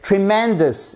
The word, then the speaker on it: tremendous: Le premier mot qui fait vraiment bonne impression, c'est tremendous. Et vous voyez, vous avez l'accent tonique sur la deuxième syllabe.